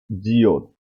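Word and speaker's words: ㅈ: ठीक है, के बाद है जियोत, जियोत किसकी आवाज देता है, हाँ, जीम और ते की। जीम की आवाज देता है अगर फिक्रे के शुरू में आ जाए तो छे की आवाज देता है। अक्सर ये ते की आवाज भी देता है।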